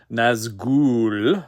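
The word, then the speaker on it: Nazgûl: Or sorry, I was corrected on the pronunciation. I must say it properly. Nazgul, like that.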